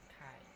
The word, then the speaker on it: ไข่: ไก่ ไข่ Nah, ayam itu Gai. gai ya, ไก่ gai. ออกเสียงเหมือนกันไก่กับไข่ Ayam itu gai, tapi kalau telur itu jadi kayak ada haknya kai.